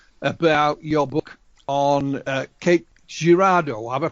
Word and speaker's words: Cape Girardeau: was talking initially about your book on uh cake girardo have i pronounced it correctly that's right and uh mr